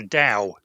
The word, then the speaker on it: Tao: TAO is a Chinese word, and it's pronounced Dao. It's right. supposed to be an unaspirated T, so it sounds like a D.